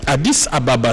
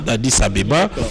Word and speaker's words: Addis Ababa: Le président de la République avait Addis Ababa, c'est comme cela que ça s'écrit et se dit lorsque vous êtes à Addis. Mais pour nous, les francophones, Addis Abeba.